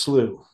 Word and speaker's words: slough: Yeah, it's just these, it's pronounced slew. Okay. Some people pronounce it as slap. That's actually the British pronunciation.